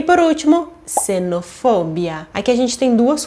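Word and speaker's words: xenofobia: gente tem duas coisas um é o som do X que quando ele começa a palavra ele tem som de s e outra é a sílaba tônica que vai ser for e não Bia Então não é cenofobia sim se não fobia Agora me conta aqui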